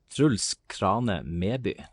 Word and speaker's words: Truls Krane Meby: And your full name, please, Truls, because I don't want to mispronounce it. Truls Krane Meby.